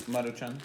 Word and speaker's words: Maruchan: Like, it's literally not even like, for the camera, it's not even like the Maruchan stuff. Maruchan, I don't know how to say it. It's Maruchan.